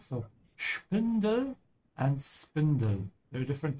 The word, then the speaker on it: Spindel: Most of the time, whenever you have SP in German, it's a sh sound. So Spindel and Spindel.